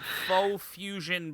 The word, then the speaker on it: Pho Fusion: To Faux Fusion Productions on YouTube. That's faux spelled like the noodle soup, PHO Fusion, the usual way.